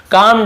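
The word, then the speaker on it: calm: उसका टेंपरेरी क्रोध गुस्सा कम डाउन ये कल मणि पढ़ेंगे एल साइलेंट होता है कम ऐसे कम डाउन यानी शांत हुआ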